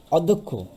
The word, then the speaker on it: অধ্যক্ষ: অর্থাৎ এটার উচ্চারণ হবে অধ ধোক খ, অধ্যক্ষ।